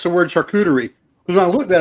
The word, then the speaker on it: charcuterie: short goodies that's how I learned how to pronounce the word charcuterie because when I looked at it I'm like